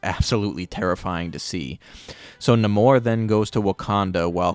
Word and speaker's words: Namor: they get attacked by the talocon people and Namor as he's pronouncing himself in this movie so that's how